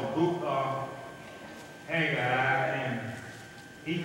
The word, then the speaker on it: Haggai: Haggai, that's what the book is called, the book of Haggai, and he called himself the prophet. Amen. Haggai. When you look at that, the breakdown pronunciation is H-A-G-E-Y-E. In the pronunciation of that prophet name.